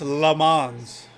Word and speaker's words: Lammons: Chris Lammons in coverage on Jacoby Myers. Too high for Jacoby. Chris Lamons. I've always said his name wrong, apparently. Chris Lamons.